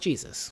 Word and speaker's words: Jesus: Her husband, Jesus, and it's pronounced Jesus, wanted to use the